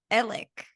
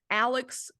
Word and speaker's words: Alec: say because it's all they say it like Alec I like like it's like an e almost I feel like the first time I heard about like the actual trial coming about I kept hearing Alex murdaugh and I was like who the hell is Alex Murdoch and then I finally heard someone say Alec Murdoch and I was like